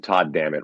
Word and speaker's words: Todd Dammit: There was a whole period of where you took your name and you stuck something on it, and Todd Dammit rhymes with God damn it, so it just sort